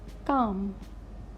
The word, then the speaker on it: calm: now next is l in these words L is silent calm not calm calm Calm half almond many people